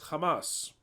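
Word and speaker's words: חמס: in Hebrew is age 2555 and it is pronounced as Hamas that is violence Hamas so then we've started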